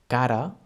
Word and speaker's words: cara: With the soft sound, it happens when we have one R between vowels, as in cara. Cara is spelled in English C-A-R-A. En català, C-A-R-A, cara. And it means face. In this case, it sounds soft, cara.